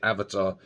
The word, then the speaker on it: Avata: the firmware on your avatar it's pronounced Avatar um rather than avata um what you need